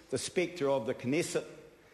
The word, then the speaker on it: Knesset: the Spector of the knesset I believe the K is actually pronounced uh with um 30